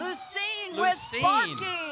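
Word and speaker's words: Lucien: Pioneer Skeleton Creek okay let's all pronounce this correctly the Lucine fire department Lucine Don't Call Him Lucian that's Lucine thank you guys with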